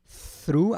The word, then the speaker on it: through: Temos aqui o pass, presta atenção nessa palavra through, como se escreve, ó, through, agora sim teremos o TH, a língua entre os dentes, e depois um R, então é né?